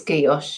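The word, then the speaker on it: guilloché: I think it's guilloche. Yeah, so that would be like sounding the L's the French way.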